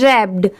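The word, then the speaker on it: wrapped: ई figure ये है रैप्ड अब जैसे देखिए यहां पर डब्ल्यू की साउंड नहीं आ रही है। सिर्फ डब्ल्यू आगे लगाया हुआ है।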